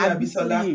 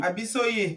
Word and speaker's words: Abisoye: I keep calling you Abisola. Abisoye.